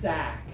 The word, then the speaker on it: sack: one is a s sack yeah the sound comes from the back of your throat on the side sack sack yeah I